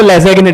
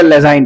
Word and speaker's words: Lassaigne: सो it's called लेजाइन test. कौन सा test है ये? लेजाइन टेस्ट. मैं पहले इसको लेजेगिन टेस्ट बोलता था. लेजेगिन ना, लेजाइन में, इट इज अ लेजाइन टेस्ट.